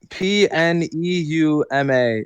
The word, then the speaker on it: Pneuma: it's You've Pneuma.